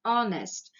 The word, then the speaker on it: honest: an honest man again here it is silent it is consonant but it is silent the pronunciation is not harnessed it is honest so it is vowel